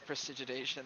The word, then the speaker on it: prestidigitation: He's gonna ask Fitz to prestidigitation the the vomit away.